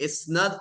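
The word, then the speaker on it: إسناد: अब याद रखिएगा कि इस्नद का मतलब है इस्नाद, जिसे हम कह रहे हैं, जो कि एक्चुअल प्रोनाउंसिएशन है।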